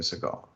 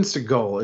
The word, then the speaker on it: Seagal: ] wild man so steven seagal is known as steven segal his real pronunciation of his last name is steven seagal according to his mother so here we go